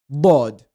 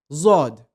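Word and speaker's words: ض: It is known as Bod. It is also the most mispronounced letter in the Arabic language. People pronounce it as Zod. It is the wrong pronunciation.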